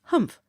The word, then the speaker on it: humph: If you read this story aloud, please pronounce humph exactly as it is spelled, for that is how he said it.